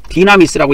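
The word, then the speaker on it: δύναμις: 이게 헬라어인데 여러분들은 헬라어를 모르니까 이게 발음을 하기가 뭐 할 건데? 디나미스라고 읽습니다.이 디나미스는 우리나라 성경에는 보통 능력 이렇게 번역을 해 놨어요.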